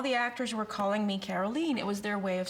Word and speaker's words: Caroline: name and she said maybe we should say Carolyn because it sounds more like the original pronunciation right and then I